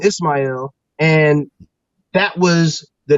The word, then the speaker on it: Ismail: Hebrew pronunciation ishmail uh he took the Arabic pronunciation Ismael and that was the name that he took